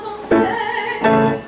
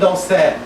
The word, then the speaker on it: danser: You open at the back, you have a diphthong. Danser. Danser. Now closer. Danser, mais. Danser. Yeah. Danser. And then stay on it. Danser. Yeah. No diphthong, right?